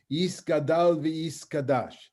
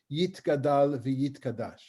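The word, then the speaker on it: יתגדל ויתקדש: The Kaddish begins in an Ashkenazic pronunciation, Yiskadal v'Yiskadash, as opposed to the way that I learned Hebrew when I was a kid, and the way we speak Hebrew in the state of Israel is Yitkadal v'Yitkadash. Right, same letter, different pronunciations.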